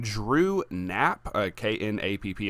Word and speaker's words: Knapp: His name is Drew Knapp, uh K N A P P. I'm assuming the K is silent, so Knapp.